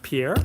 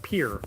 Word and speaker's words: Pierre: The capital is like Pierre, but you're supposed to pronounce it Pierre.